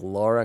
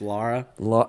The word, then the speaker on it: Lara: drake no i think laura croft would actually be the actually pronounced lara didn't i say lara croft better adventurer because